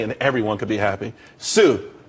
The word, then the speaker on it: tsū: Sue, TSU. It's pronounced Sue though.